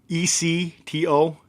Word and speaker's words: ectomorph: For those spelling bee people out there, ECTO is how you spell it.